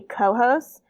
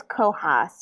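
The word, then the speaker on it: Cohos: so it's c-o h-o-s so it looks like it's going to be co-host but it's cohass which is the name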